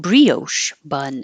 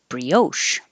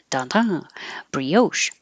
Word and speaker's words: brioche: say arugula arugula brioche I found out I've been putting stress on the wrong syllable I always said brioche bun instead of brioche but I looked it up and brioche this word for a